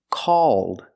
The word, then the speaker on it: called: all call Ball wall the vowel sound is a plus the dark l so if I change call with Ed D it's pronounced called called example he called